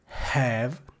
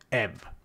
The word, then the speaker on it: have: e infine nota che il verbo avere ha la pronuncia della h iniziale è have e non have Ok li ascolta bene